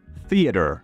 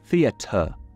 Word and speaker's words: theater: Por ejemplo, theater. Así se dice en Estados Unidos. En Inglaterra se dice theater. Theater. Suelen pronunciar o articular la T dentro de palabras, mientras en el inglés